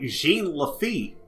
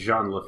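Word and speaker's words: Jean Lafitte: podcast twice for mispronouncing things okay we we mispronounced Cru like so many so many times and then I was like Jean leit in fact I still try to do jeene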